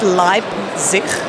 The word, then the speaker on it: Leipzig: So it's Leipzig, so with a P.